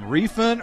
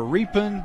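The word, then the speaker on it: Rephan: Well, I have to apologize to Matt Repan's family, because all year we've called him Refan or Repan, but actually it's Repan. It's spelled R-E-P-H-A-N.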